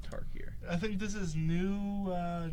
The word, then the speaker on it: Tarkir: So, he's played flags, sacked flags, searching for Torkir. Did I pronounce it wrong? Yeah, you said Tarkir.